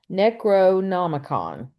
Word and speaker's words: Necronomicon: Uh, but It's and they Necro accused him of, no no it's Necronomicon. That's how you yeah, pronounce it.